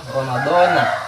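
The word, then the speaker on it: رَمَضَانَ: Ramadana di sini kalau kita tidak diidopatkan dengan kalimat selanjutnya, maka betul pengucapannya adalah Ramadana dengan menggunakan fathah, gitu.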